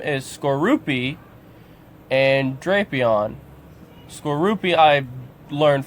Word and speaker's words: Skorupi: I also learned how to say this Pokemon's name is Skorupi and Drapion.